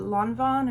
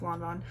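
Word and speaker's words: Lanvin: these are actually uh Lon Von or I'm pretty sure it's pronounced lonon um and H&M collab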